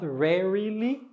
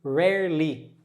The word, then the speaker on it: rarely: high frequency okay here this word here just two syllables that are just two syllables not the three syllables not rarely no say rarely rare Li ly always usually you usually